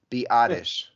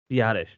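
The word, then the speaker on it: Biadasz: which is Wikipedia which is always right is badish badish Tyler badish according to Wikipedia it's Bish the classic zent silent Z on the end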